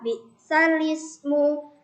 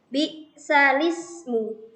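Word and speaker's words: بِئْسَ الِاسْمُ: Jadi bukan bi'sal ismu, tapi karena di sini harus membalikkan, jadi bacaannya bi'salismul fusuqu ba'dal iman.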